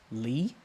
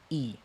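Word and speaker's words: 이: Now, this is not pronounced Lee, right? If this was going to be pronounced Lee, it would, like in Korean, it would have like dir, Lee, like di, This is simply just E.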